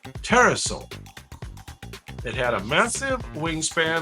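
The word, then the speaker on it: pterosaur: It was not a dinosaur, but a type of petroosaur. Terasaur. You don't pronounce the P. Terasaur.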